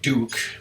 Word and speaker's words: Duck: There's Hugster Duck, except it's pronounced Duke. Ratmus always calls him Hugster, but he told me to call him Duke.